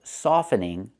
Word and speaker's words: softening: But if I change it to a verb and say soften, the T is silent. We do not say soften, it's soften. So I can say Americans love softening tough truths.